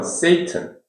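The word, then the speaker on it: Satan: 마구니 성경에도 그 악마 사탄 세턴 세턴 사탄 S을 세이튼 우리는 사탄는데 영어 발음은 세이튼 예수님이 그 성령 체험을 하고 성령 체험을 하고 바로 이렇게 그 가르침을게 아니고 성령의 의 인도에 따라서 저 사막으로 갔죠.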